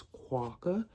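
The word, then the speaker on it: Kwok: I have figured out how to say her last name. It is Quaca.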